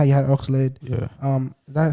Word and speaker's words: Oxlade: Sit down with Kily, like have a, like, you know how you had Oxlade. Yeah. Is that how you say it? Yeah. Oxlade.